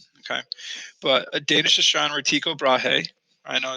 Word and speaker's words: Tycho Brahe: Okay, but a Danish astronomer, Tycho Brahe, I know it's kind of weird how you say his name, but the pronunciation is Tycho Brahe, wanted to determine how the heavens were constructed